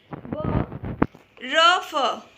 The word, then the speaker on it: बर्फ: ब र फ, तो जिस भी रेफ जिस भी लेटर में लगा हुआ है उसके पहले हम र बोलेंगे, ब र फ, बर्फ, धर्म, कर्म।